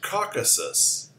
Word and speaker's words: Caucasus: place that's easy enough the next word is pronounced conquered Caucasus the Caucasus is a root is also called